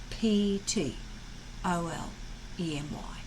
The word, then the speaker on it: Ptolemy: so that's the guy ptolemy know it it's a name it's unusual spelling because it's p t and we don't pronounce the p p t o l e m y ptolemy thank you enjoy